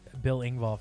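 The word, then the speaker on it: Engvall: be a real big bill ingball fan yeah that's how you pronounce his name billing ball um more so than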